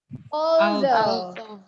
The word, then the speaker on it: although: Ingat aturannya, GH di belakang itu tidak boleh diucapkan. Ini banyak sekali orang yang salah menyebutkannya. Kita lihat APA-nya gimana. Although.